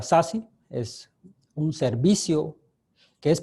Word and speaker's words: SASE: vamos a hablar deshace Security Access Services se pronuncia sasi es un servicio que es producto de la